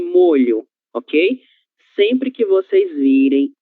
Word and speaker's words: molho: Eh, a ver, Nieves, como nós fazemos a leitura dessas duas primeiras palavras? Ilha, molho. Isso. Perfeito. Então, observem a pronúncia da colega de vocês. Ilha e molho, OK?